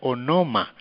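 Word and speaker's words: ὄνομα: griego la palabra nombre se escribe y se pronuncia o no ma qué quiere decir o significa persona así las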